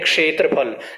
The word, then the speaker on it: क्षेत्रफल: जैसे हम बोलते हैं क्षेत्रफल, क्षेत्रफल नहीं क्षेत्रफल, क्षेत्रफल, पहले क का उच्चारण होगा थोड़ा सा, फिर उसके बाद श का उच्चारण होगा।